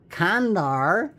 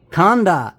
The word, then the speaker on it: Khanda: And this Kandar, let me see if I'm pronouncing that right. Khanda. Sorry, this Khanda.